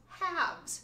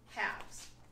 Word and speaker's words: halves: One, half, singular, two, halves. Notice how the L is silent on that word. So we have two halves.